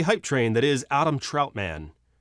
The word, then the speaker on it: Trautman: train that is adam troutman i know it's troutman i just like to say it like he's a superhero what is it trout